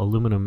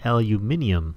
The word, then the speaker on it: aluminium: So if you try and spell aluminum in your NEI interface or JEI interface, it'll be aluminium, not aluminum, like most Americans pronounce it.